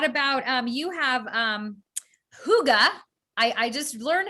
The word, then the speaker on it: hygge: i know you know what makes me remember how to pronounce it is um hooked on a feeling the song you know from uh guardians of the galaxy that's why i remember because it hasn't helped a feeling well you guys mess